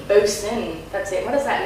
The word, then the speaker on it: Boson: So for people that haven't heard the new album Boson, am I pronouncing? Boson, that's it.